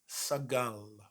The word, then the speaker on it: סגל: Our word is sagal. Sagal. Sagal, spelled with a samech, gimel, and a lamed.